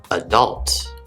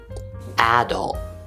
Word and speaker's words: adult: know you're an adult likewise with the word adult i say adult adult where's the stress that's right it's on the second syllable adult adult and flow pronounces it with a stress on the first syllable adult adult there are